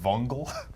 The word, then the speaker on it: Vungle: inside GDC that said vungle V yeah like spelled like fungal but with the V kind of it was like bung